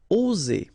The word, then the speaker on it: oser: Okay, it's interesting here because you've got only one S between two vowels, and normally the pronunciation you will get when you get only one S, it's Z. Okay, oser. All right, if you would have deux S instead, you will pronounce it oser. Okay, but in that case you've got only one S, and that's the rule. One S between two vowels will produce the sound Z.